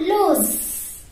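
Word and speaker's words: lose: L-O-S-E, loose. See, how to pronounce this word? L-O-O-L-O-O. Z sound is Z, right? Loose. Okay, you don't say loose. Okay, that's not a loose. That is loose.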